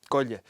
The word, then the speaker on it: Gabh i leith: There are three words that gel into one. go-i-le.